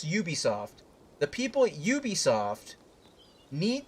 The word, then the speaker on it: Ubisoft: I've said this previously, but in my opinion, the people at Ubisoft, I'm sorry, what is it actually pronounced? It's Ubisoft? It's Ubisoft.